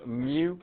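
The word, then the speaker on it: mu: don't care if you know that that's called Mew but we're going to call it the mean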